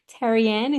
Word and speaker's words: Terriane: have a very special person here from Australia Teran is that how you spell that how you pronounce that that is how